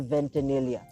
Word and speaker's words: Ventanilla: so ladies and gentlemen folks my guest ventania I hope hope I pronounced it right yeah actually you did thanks